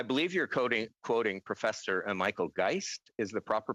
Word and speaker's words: Geist: Well, I believe you're quoting Professor Michael Geist is the proper pronunciation, and I will defer to my colleague, Minister Guilbeault, to answer that question.